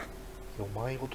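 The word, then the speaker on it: 世迷言: 全部よまいごとなのじゃ。よまいごとって読むんだこれ。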